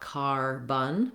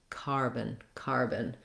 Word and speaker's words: carbon: So not car-bun, but rather carbon. You might even think of it as having no vowel at all. Moving right from the B to the N syllable may help you. Carbon. Very short, reduced vowel.